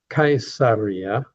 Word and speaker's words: Caesar: Now we want to go to Cesaria or Kaiseria as I like to call it named after the Caesars. And the Latin word for Caesar is actually pronounced Kaiser which is where later